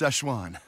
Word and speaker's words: Szechuan: Like It's pronounced Szechuan.